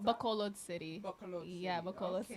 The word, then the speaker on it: Bacolod City: How do you pronounce that? Bacolod City.